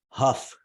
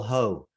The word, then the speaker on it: Huff: And for those of you who are unaware, Paul's last name is pronounced Huff, like Correct. tough. I've been in my mind, I've been constantly calling you Paul Ho.